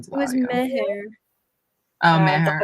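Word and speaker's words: Mehr: Meher. Oh, The Mare. audiobook pronounced the H. Mare. Well, I've been saying it wrong to myself, so there you go. Yeah, I was calling her Mare too.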